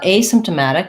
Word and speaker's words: asymptomatic: symptomatic symptomatic so uh asymptomatic is going to have a stress on the first syllable to highlight that it's asymptomatic instead of symptomatic um and then it's going to have stress on this penultimate syllable second to last that has the a black cat vowel we also say this